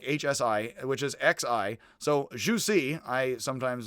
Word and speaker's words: Zhu Xi: z-h-u-c uh like hsi which is x-i so juicy i sometimes say uh joke it's juicy like